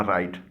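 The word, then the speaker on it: write: W से शुरू होने वाला राइट, इसका W साइलेंट है, इसके माने हैं लिखना, और दूसरा राइट RIGHT, इसके माने हैं दुरुस्त, दायां।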